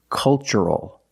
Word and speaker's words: cultural: We see a similar spelling pattern. So the pronunciation, that's right, it's ch. The first word, culture. And the second word, cultural. Also remember the first syllable is a short U, like cup and up. Make a relaxed sound. K. Culture and cultural.